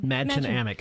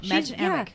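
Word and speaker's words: Mädchen Amick: Madchen Amick. Madchen Amick, and she's in Riverdale.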